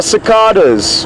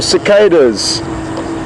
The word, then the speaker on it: cicadas: Colleen's just asked, good morning Colleen, what insects we can hear in the background, and they are cicadas, or cicadas, as you may pronounce them in America.